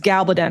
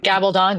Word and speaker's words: Gabaldon: I think it's pronounced Gabaldon is her last name. Gabaldon, yeah, Gabaldon or Gabaldon. Yeah, it could be like tomato on the Gabaldon front.